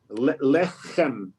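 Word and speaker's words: לחם: Lechem. In the back of your mouth.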